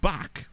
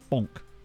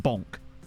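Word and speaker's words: Bąk: this surname pronounced pop is his surname pronounced Bonk because I swear the a with the hook makes an Ong sound great what's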